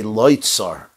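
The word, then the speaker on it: לו צר: When we pronounce the word, we say loitzar.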